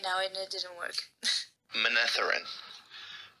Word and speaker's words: Manetheren: Manetheren. Ma-neth-er-in. Manetheren. Manetheren? Manetheren. Wow, that wasn't so hard. Manetheren. Okay, so the stressed syllable is the N.